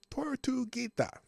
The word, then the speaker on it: Tortuguita: It's Tortuguita or Tortuguita. Tortuguita. That's how you say it.